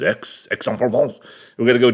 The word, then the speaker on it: Aix: I didn't even know I didn't know how to pronounce AIX but it's X Exxon Falls we're gonna